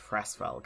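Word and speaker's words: Hresvelg: name is edelgard Von haresfelk Princess Sofia dressed I don't like the way she pronounced fresfolk I think I feel like there should be a silent letter Lacey pronounces like a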